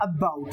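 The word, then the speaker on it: about: ना नेक्स्ट उसने कहा अबाउट देखो अब ए तो इसमें वोल है और बाउट देखो बी डब्लू टी इसकी साउंड क्या कर अबाउट अबाउट अबाउट अबाउट ए बोला नहीं जा रहा है कम बोला जा रहा है और बाउट पे उसने स्ट्रेस ज्यादा लगाया है दिस इज द प्रोनंसिएशन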